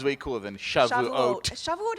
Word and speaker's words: Shavuot: Shavuot is hard for me because you have to go hard on the ah. Shavuot. Like you have to know going in that that's where you're emphasizing.